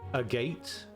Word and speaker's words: Agate: go a lily necklace seeing as it's Japanese you will pronounce it Agate a japa yeah see that that was my first instinct as well my first instinct was to pronounce it agat um but yeah some